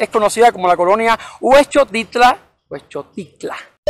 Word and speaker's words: Huexotitla: vez es nice es conocida como la colonia huexotitla puesto cicla o para pronunciarlo de manera más correcta es un hecho titular a mí a veces se me complican este